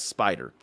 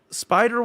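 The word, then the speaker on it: SpyDR: our various planning artifacts project y can now be referred to as spider and yes it is spelled as capital s p y capital d r so again one word i see multiple things in that especially when you throw that logo to it so spider will be a major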